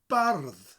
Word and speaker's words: bardd: The only difference is that double D, and you roll the R. So bard becomes bardd. Bardd. So go to say the word bard, but roll the R. Bardd. And then a th instead of a D.